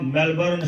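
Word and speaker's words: Melbourne: हिंदी में मेलबोर्न वगैरह कुछ पढ़ते होंगे, मेलबोर्न वगैरह कुछ लिखते होंगे, लेकिन ये है मेलबर्न।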